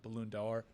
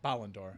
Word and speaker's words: Ballon d'Or: Benzema the reigning uh balloon dollar uh winner I mispronounce that um uh Ballon d'Or yeah I always want to make it a balloon five dollars so I mean for